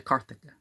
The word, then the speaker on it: Carthage: on important embassies to Carthage. You don't pronounce that G with a J sound.